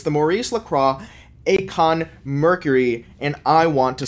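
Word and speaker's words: Aikon: It's the Maurice Lacroix Acon Mercury, and I want to smack that. That's an Acon reference if you're familiar for it. It's actually pronounced Icon, I think.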